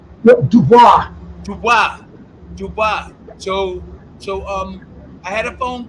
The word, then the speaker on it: Dubois: about maybe working with DeBozy. How do you pronounce his name? Dubois.